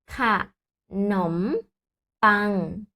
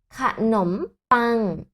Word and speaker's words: ขนมปัง: Donc, en haut, on prononce khanom pain. Répète après moi. Khanom pain. Khanom pain, ça veut dire pain, le pain.